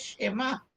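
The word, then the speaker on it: שמע: Dice, "Ahora pueblo de Israel, oigan, ahí está hablando, aquí está usando Shemá, el original es Shemá, así como el Shemá que estudiamos aquí es oigan."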